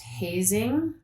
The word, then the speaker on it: Hoesing: But I just found out it's pronounced hazing. Oh. And she said, you can remember it, amazing hazing.